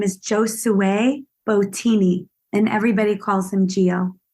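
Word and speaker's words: Giosuè: Gio Gio oh red g i o s u e with the accent on the E if the accent's not there it's not the same name sure yeah where did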